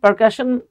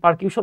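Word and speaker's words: percussion: বাজাতে শুরু করে করলো এবং দেখেন পারকাশন অনেকে পারকিউশন উচ্চারণ করে এই পারকাশন ইন্সট্রুমেন্ট মানে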